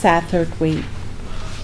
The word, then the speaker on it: Satterthwaite: this Welsh Satterthwaite is sometimes spelled with a c' after the S and sometimes this the C is omitted either way either way it's pronounced Satterthwaite okay let's go to